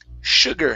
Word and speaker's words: sugar: it okay and the next one here is sugar instead of sh sugar sh sugar sugar sugar